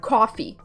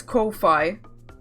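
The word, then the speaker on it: Ko-fi: It would be pronounced like coffee. What? Well, but there's literally a hyphen in the middle. That makes me think it's Kofi.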